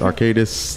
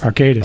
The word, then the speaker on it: Arcadis: we are talking to michael wooten vp of arcadis us inc did i say that right arcadis arcadis arcadis arcadis yeah all right got it uh ed